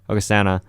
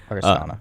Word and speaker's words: Augustana: Hustana. Augustana. Aristana.